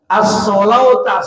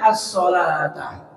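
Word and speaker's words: الصلاة: Tapi cetakan Arab sana pakai wawu, as-solauta, seolah-olah as-solauta, tetapi membacanya as-solata.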